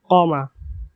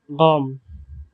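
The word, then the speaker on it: قام: প্রথমত তারা কফকে প্রায় বাংলা গয়ের মতো উচ্চারণ করে থাকেন, তবে একেবারেই গয়ের মতো উচ্চারণ করেন না। যেমন বিশুদ্ধ আরবি ভাষায় কমা, কমা, কমা মানে সে দাঁড়ালো।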